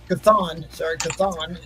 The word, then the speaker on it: Chthon: Chthon is how you All right, pronounce guys.